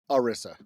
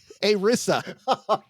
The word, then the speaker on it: ERISA: ERISA. That means we're going to pronounce it ERISA then. A Rissa.